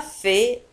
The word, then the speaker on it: fait: Je n'ai pas fait exprès. Je n'ai pas fait exprès. Je n'ai pas fait exprès. Je n'ai pas fait exprès. لاحظوا على أن في تنتهي بالتي ولا تنطق.